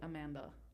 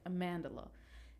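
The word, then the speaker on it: Amandla: up I'm so sorry um I'll just say Amanda yeah you know amandela amandela thank you see I was saying it wrong yes amandela and they play twins they're the same actor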